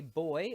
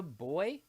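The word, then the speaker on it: buoy: swell moves up the boy I think some people pronounce it boy I'm just going to call it a boy it moves up and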